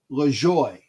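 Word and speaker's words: Lajoie: actually it was uh napoli joy i think that's how to pronounce his name a napoleon le joy uh l-a-j-o-i-e i believe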